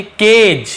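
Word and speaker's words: cage: उसके बाद देखिए केज, इसे हम केज पढ़ेंगे, केज नहीं पढ़ेंगे क्योंकि जी और ई होता है तो ज उच्चारण होता है।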